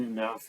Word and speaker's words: enough: are correct you know the GH is silent and enough we have the silent GH and sunlight plants uh